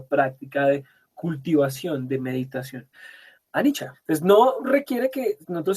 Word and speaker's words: anicca: Dhamma en términos de anicca, en términos de dukkha, en términos de anatta? Anicca, la C se pronuncia como una ch de chía, anicca, dukkha y anatta.